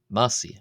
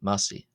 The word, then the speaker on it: ⲙⲁⲥⲓ: We have the Coptic word massi. Massi. Massi. Massi. This is the Coptic word for calf. Here the uh I is pronounced long. Uh is pronounced as as a long e vowel.